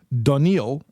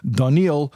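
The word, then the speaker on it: דָּנִיֵּאל: generations before okay so danil and that's the Hebrew pronunciation of Daniel at least in my accent daniil was from the tribe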